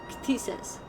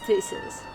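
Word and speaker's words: Ktisis: No, you didn't pronounce the K. Jesus. Ctesis. Jesus. Not just thesis, it's Ctesis. Yeah. You still Thesis. use the K.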